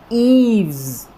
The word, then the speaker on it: eaves: और जो स्ट्रेस है वो ई वाले जो है साउंड के ऊपर लगा हुआ है। तो क्या हम इसको प्रोनाउंस करेंगे, ईव्स, ईव्स, ईव्स, ईव्स, ईव्स।